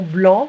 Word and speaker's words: blanc: Sauvignon blanc. We don't pronounce the C in French.